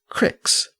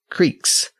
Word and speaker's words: creek: And it's worth noting that he referred to them as cicks. C R I C Ks, not Creeks. Creek actually became a common pronunciation of Creek in many parts of colonial America, and it still survives in some rural dialects, though Creek has largely replaced that older pronunciation.